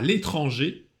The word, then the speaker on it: l'étranger: Ils ont décidé de partir en voyage à l'étranger cet été. Ils ont décidé de partir en voyage à l'étranger cet été. замечание говорим à l'étranger а не à l'étrangère. Это очень частая ошибка. R не читается.